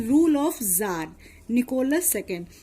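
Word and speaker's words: tsar: इन 1914 there was a rule of jar Nicholas second, इसको बच्चों जार पढ़ते हैं, इसमें टी साइलेंट है।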